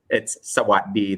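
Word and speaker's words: สวัสดี: So before, swasti would have been easy to say, but now it's sawaddi, the dropped in.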